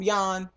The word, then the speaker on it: Jan: always been had always called Jan um Yan that's how you say it um but it's j an that's how it's spelled um mister mister and even when they met um Yan was like look look